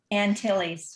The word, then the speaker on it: Antilles: And it's the smallest and most eastern island of the greater, and how do you say that, Antilles? The capital is San Juan. What is it? Antilles.